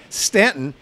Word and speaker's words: Staunton: part of Virginia at a place called Staunton even though it's spelled s tau NT o n we're going to tell